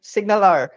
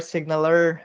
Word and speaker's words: SignalR: right moving on um signalr okay so signalr signaler signal r um depending on how you pronounce it um is you